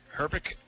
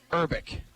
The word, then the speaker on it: Herbeck: Herbeck? Urbeck. H is silent.